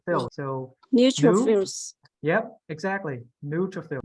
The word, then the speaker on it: neutrophils: Neutrophils. New. It is tro, not try. See that? Neutrophils. No, this is fill, not five. Fill. Like you fill up something, right? Fill. So Neutrophils.